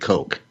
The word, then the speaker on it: Coke: He said, I'll have a hamburger with fries and a big Coke. But he did not pronounce the vowel sound in Coke like you would in broke or soak.